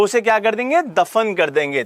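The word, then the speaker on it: Diphu: भानु मिश्रा दीफू देखो दीफू की ना स्पेलिंग जो है वो डी आई एफ यू के साथ-साथ आप लिख सकते हैं उसे याद करने के लिए लिख लीजिए लेकिन दीफू की स्पेलिंग जो रहती है वो डी आई पी एच यू लिखी हुई है वहां पर तो आप डी आई पी एच यू लिखें तो वो ज्यादा ठीक है क्योंकि क्या होता है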